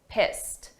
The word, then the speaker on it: pissed: really pissed me off let's look at the pronunciation of pissed because here this is an ed a past simple verb but the sound of that Ed is a very soft T pissed pissed now when we say